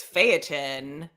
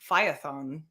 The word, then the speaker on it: Phaethon: Oh, this is another pronunciation one, because the anglicized way is Phaeton. Okay. But I feel like and I should know this, like being married into you're the one being Greek. Asked about it. Yeah. I think the Greek pronunciation is Phaethon. So, okay. But I say Phaeton. That's what Webster's has it as, so I'm going to say Phaeton.